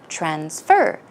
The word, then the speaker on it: transfer: one more time now where would the stress go on the trends for here on the first syllable or the second syllable that's right it is